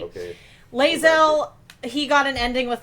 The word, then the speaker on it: Lae'zel: No, Lizelle. She's one of the most. Is that how it's pronounced? Lae'zel. Lae'zel.